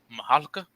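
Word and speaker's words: Mihalka: It was directed by George Mahalka. That's how you pronounce his name.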